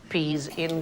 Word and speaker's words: psi: pronounce it psi, but in Greek, that sound is more like the PS that we have in laps.